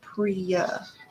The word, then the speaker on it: Priya: I think it's Priya, as in like Y.